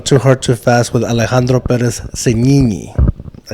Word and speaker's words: Alejandro Perez-Signini: We've just gone too hard, too fast with Alejandro Perez-Signini.